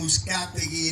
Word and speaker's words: Uzcategui: Well, my name is Uzcategui, and if you have a problem pronouncing the last name, sound like Uzcategui.